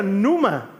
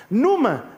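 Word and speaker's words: πνεῦμα: entró el espíritu y en griego eso se pronuncia Numa Numa de ahí viene la palabra neuma que es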